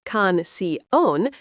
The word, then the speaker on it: canción: Canción, phát âm là kahn-see-OHN, nghĩa là bài hát.